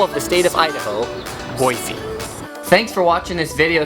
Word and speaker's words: Boise: though they say no it's a French word it should be pronounced Boise so my suggestion is